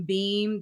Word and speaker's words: Beahm: And so this is George, I guess he pronounces his name Beam.